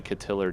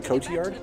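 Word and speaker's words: Cotillard: uh that was a better death than marion catillard and dark knight rises marion cochiard yes sorry yeah she's never heard it pronounced out loud because she is a french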